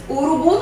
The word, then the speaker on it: urubu: Urubu não tem acento, mas pela pronúncia eu vou saber que a sílaba tônica é o bu.